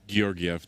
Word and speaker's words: Georgiev: Georgiev. That's actually how you pronounce his name.